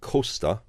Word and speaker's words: Costa: And I know they certainly call him Adrian, but he seems to pronounce his surname Costa, although he is riding as a stagiaire for